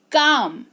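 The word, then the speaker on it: calm: है ठीक है शांत काम सी ए एल एम काम लेकिन एल यहां पर साइलेंट है ड्यू टू स्पेलिंग रूल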